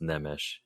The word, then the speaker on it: Nemes: to make one correction my last name actually is pronounced nemish Nish okay Nish yeah